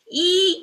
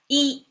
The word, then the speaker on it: 一: Now the expressions you may wonder what this e pronounces a flat tone. Why here is a fallen tone and then a rising tone.